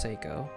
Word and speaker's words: Seiko: game but her name I'm pretty sure it's pronounced psycho no matter where you go in this house